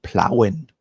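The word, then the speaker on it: Plauen: I uh to say because you you pronounce it a little bit different plowing plowing by sock yeah exactly so I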